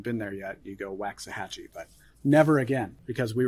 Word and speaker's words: Waxahachie: Waxahachie. Waxahachie. Waxahachie. It's not even spelled the way you think it is.